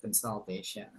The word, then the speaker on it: consultation: corction ya satu aja ketika bilang consultation bukan consultation consult ya consultation consult nah jadi eh u dibaca a di situ consultation What semester are you